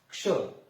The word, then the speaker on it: क्ष: अब आप उच्चारण करके देखते हैं, क्ष और क की आधे की आवाज आ रही है और श की पूरे की आ रही है, लेकिन ये श है।